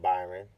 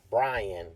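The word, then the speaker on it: Bryan Edwards: is is it Byron it's not Byron its Brian Brian Edwards I think that's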